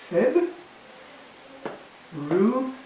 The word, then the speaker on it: February: They change this syllable. So this is what they change it to. Feb. Ri.